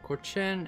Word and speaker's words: Cochin: chin has 12,000 said Davy no it's it's cochin and urine veneer has 4,000 okay did they